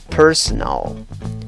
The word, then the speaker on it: personal: Como ves, según el diccionario Merriam-Webster, hay 2 posibles formas de pronunciar la palabra. La primera solo tiene 2 sílabas y la segunda opción tiene 3 sílabas. ¿Cómo pronuncias la primera opción? Presta atención a las vocales. En ambas sílabas tienes schwa, ¿Cuál es la sílaba que lleva la fuerza de voz? La primera sílaba, contando de izquierda a derecha.